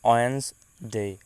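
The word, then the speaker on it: Wednesday: এরপর আমাদের আসে বুধবার বা ওয়েডনেসডে, ওয়েডনেসডে নট ওয়েডনেসডে। এটা উচ্চারণ করতে হবে এইভাবে যে ওয়েডনেসডে, ওয়েডনেসডে বুধবার, ওয়েডনেসডে বুধবার।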